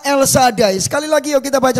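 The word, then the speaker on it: אל שדי: Ah, Bapak, Ibu, Saudara yang dikasihi Tuhan ini bacanya Elsadai.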